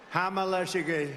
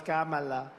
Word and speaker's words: Kamala: Hamala, Hamala. No, it's Kamala.